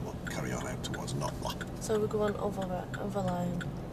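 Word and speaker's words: Knottingley: to head out towards Notla. It's spelt Nottingley, but everybody says Notla.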